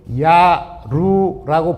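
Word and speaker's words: 압록: 암록은 원래 우리 조상들이 야루라고 발음을 했습니다. 고대한국은데요.이 만주말에 그 뜻이나 있습니다. 만주말의 야루를 지변 땅의 변두리를 야루라고 합니다. 근데 암록강을 나타낼 때의 한자는 여러 가지죠. 암록 암록 아로 야로 발음은 전부 다 야루로 발음이 됩니다.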